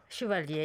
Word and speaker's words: Chevalier: You became the very first Korean graphic novelist, comic artist to receive France's prestigious cultural honour, the Chevalier. Is that the right pronunciation? My French is terrible. Chevalier, yes.